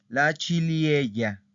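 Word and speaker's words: ciliegia: La chiliella, porque esta ahí sí tiene que sonar. Chilie, esta ahí sí suena.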